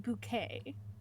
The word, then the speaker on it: Bucket: And it follows this middle-aged woman, and her name is Hiestin Bucket. However, she doesn't think that bucket is a uh refined name. So, she has decided to pronounce it bouquet.